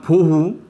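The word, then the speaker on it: בֹּהוּ: 공허를 발음하면 보후, 혼돈은 토후가 돼.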